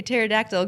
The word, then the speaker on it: pterodactyl: Why can't you hear a pterodactyl going to the bathroom? Why can't you hear a pterodactyl going to the bathroom? I don't know. Because the P is silent.